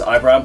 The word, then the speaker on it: Ibram: guy called ibram gaunt his first name is ibram or ibram depending on the pronunciation that's one thing back